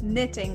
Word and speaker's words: knitting: Knitting. It's the K is silent. So N-I-T-T-I-N-G. Just pretend it's knitting.